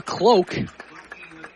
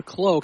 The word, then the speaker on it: Kloke: That's Noah Cloak. As Blake Fisher makes the tackle there. It'll be 3rd down and 7, so a 3-yard pickup for Cloak.